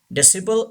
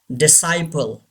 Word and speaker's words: disciple: Sigh, not C. Disciple is wrong. Disciple.